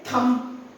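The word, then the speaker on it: thumb: Then again थंब। थंब्स अप थंब नो इस ये वाला थंब है बी साइलेंट है इट्स थंब इट्स थंब थंब नहीं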